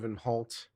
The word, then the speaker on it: Inholt: There's no A sound at the end of Inholt.